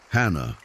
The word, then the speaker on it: Hannah: 2 syllables, the H like a breath. Hannah.